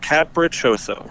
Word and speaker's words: Capriccioso: How do you pronounce that last name? Capriccioso. Capriccioso.